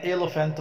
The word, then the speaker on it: elephant: Number two, an elephant. برافو عليك. يلا اكتب an elephant. E L E P H A N T. ما ننساش ال P H انها بتتنطق A F.